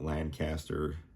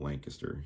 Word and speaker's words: Lancaster: I know some of you out-of-towners may call it Lancaster, but we do call it Lancaster here. That's how we pronounce it, the locals here.